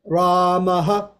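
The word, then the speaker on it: रामः: The word Ramaha. Ramaha. First of all, we've got Dirgha Akara at the beginning. Ramaha. And then the aha is short.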